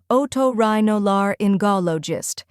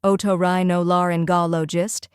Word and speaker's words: otorhinolaryngologist: The correct pronunciation is otorhinolaryngologist. Let's break it into 4 parts to make the pronunciation easy. First part, oto, like the word auto. Second part, rhino, like rhino, the animal.